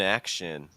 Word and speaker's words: action: that a little bit that's the stress right action the stress is on the ass that's the part that really needs to be the strongest it's like in an